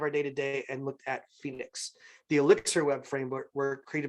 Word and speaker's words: Phoenix: Not finding one, he said, I'll solve the problem myself, and now he built Phoenix, or Pohonix for those of you who prefer that kind of pronunciation.